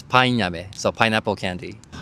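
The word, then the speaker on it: パインアメ: It's painame, so pineapple candy.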